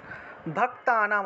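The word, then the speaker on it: ভক্তানাং: তারপরে দেখুন মহিষাসুর, মহিষাসুর নির্নাশী, মহিষাসুর নির্নাশী, ভক্তানাম, ভক্তানাম অনুস্বার থাকায় ম।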